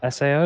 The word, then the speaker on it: SAO: have to remember it it's s AO not Sao like it's spelled e